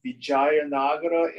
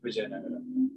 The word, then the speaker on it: Vijayanagara: And he was a major figure politically in the, I think it's pronounced the Vijayanagara Empire, is that right? Vijayanagara. Vijayanagara.